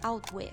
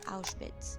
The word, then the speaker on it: Auschwitz: Bruno cannot properly pronounce the name of the new home, but calls it Outwith, but we already know that the correct name is Auschwitz.